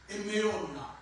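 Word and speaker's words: אמונה: La foi, en hébreu, c'est Emouna. E-M-U-N-A-H. Ça se prononce Emeona.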